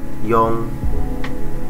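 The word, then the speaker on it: よん: bisa baca y ya tulisannya Yon ya y o n cuman kita bacanya diengkan nnya itu Eng menjadi Yong boleh si ya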